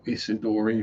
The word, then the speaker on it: Isidori: Be Marco Isidori. Or Isidori, if you pronounce it correctly.